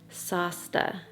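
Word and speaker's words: sásta: be because of this I had to ask Davey how to pronounce it because there was a SP over the A and I don't speak Irish sasta and he says it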